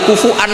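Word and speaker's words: كفوا: Maka sebagian qiraah rata-rata qurra sab'ah itu bacanya walam yakullahu kufu'an, masih pakai hamzah karena ini maknanya mukafaah, kafaah. Yang baca kufuan diganti wawu, hamzah diganti wawu itu minoritas, termasuk qiraah kita Imam Asim.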